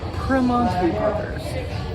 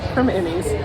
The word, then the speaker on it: Primanti: you say Perman Brothers It's almost like p r instead of p r i but you definitely don't